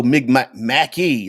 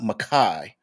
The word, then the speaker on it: Mackie: Oh, Mackie, not Mackay.